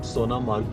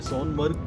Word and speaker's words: Sonamarg: Hope शायद मेरा imagination एकदम ठीक है, तो इसीलिए इसका नाम सोनामर्ग पड़ा होगा। मैं सोनमर्ग प्रोनाउंस करता था, लेकिन जो एग्जैक्ट है वो सोनामर्ग है, और इस जगह के